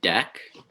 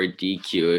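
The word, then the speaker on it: deque: structure yeah yes so we have dec or dq if you're uh want to pronounce it that way or which is basically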